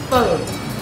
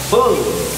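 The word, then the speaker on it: phở: Pho. Pho. No, pho. It's like a question mark. Question mark on top of the O. Pho. Pho. Like, you bend your voice and you drop it very quick. Pho.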